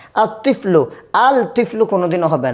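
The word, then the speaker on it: الطفل: হবে না আতলমি যেমন আতফলু তিফলনের সাথে আলিফ লাম যোগ করলাম কি হবে আতফলু লেখার মধ্যে আসবে কিন্তু উচ্চারণে আসবে না।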